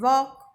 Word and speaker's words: walk: And walk, L is silent.